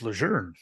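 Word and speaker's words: Lejeune: it heard both ways it was leun for forever till right before I got out no it's lour regardless I'm right here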